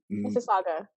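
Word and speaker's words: Mississauga: all the way from uh Miss how you pronounce it Miss Miss Saga Miss sagaa Miss Saga Ontario Canada right okay yes all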